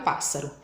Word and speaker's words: pássaro: de chamar a palavrinha por exemplo a palavra pássaro Vou chamar o pássaro pássaro qual que ficou comprida aí que sílaba que ficou que ficou eh longo né quando eu falei então a sílaba pa então ro é a última sílaba s é a penúltima sílaba e p é a anti penúltima então se a anti penúltima é forte Ela é proparoxítona vamos ver um outro